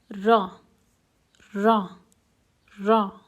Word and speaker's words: ر: is the raw letter this raw is quite different than the American R because the raw is pronounced with the front tongue touching the oral cavity while some vibration is happening in the vocal cords now repeat after